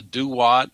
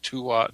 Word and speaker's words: Duat: The Egyptians called it the Duat, or sometimes Tuat. It's spelled D-U-A-T.